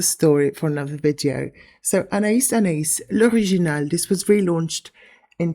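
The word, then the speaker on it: Anaïs Anaïs: This is Anais Anais. Contrary to popular belief, it's not pronounced Anais Anais.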